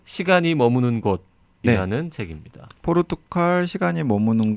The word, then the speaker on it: 포르투갈: 오늘 포르투갈 관련 책이라고.